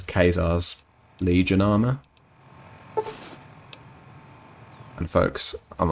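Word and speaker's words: Caesar's: site presumably because it's kazaar's legion armor and folks i'm aware that that's a weird way of pronouncing it but that's how it's pronounced in this game for some weird reason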